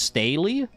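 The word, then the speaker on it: stele: So there it's pronounced staley. Like haley.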